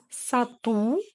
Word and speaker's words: сату: Сату, продажа. Сату, сату, ударение на У, сату.